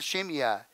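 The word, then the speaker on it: Shimei: to the next person his name is shimyai and i pronounce it shemya you all remember shemya right he's the one that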